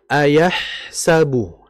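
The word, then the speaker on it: أَيَحْسَبُ: Nah, perhatikan di sini ada huruf ha yang mati. Ingat dalam pengucapan huruf ha itu, ha itu kan makhrajnya berada di tengah tenggorokan. Jangan kita membacanya itu seakan-akan seperti huruf ha. Ayahsabu, ayah, ayah, ayah, yah. Jadi setengah-setengah. Jadi harus dijelaskan ha ayahsabu.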